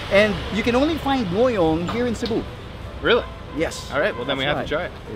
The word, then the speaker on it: Ngohiong: Ngohiong. Ngohiong. Ngohiong. Okay. It's hard to pronounce the H somewhere there, but there's an H there.